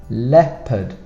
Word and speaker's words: leopard: Leopard. We have an O that is not, you don't say it, but you put it in the spelling.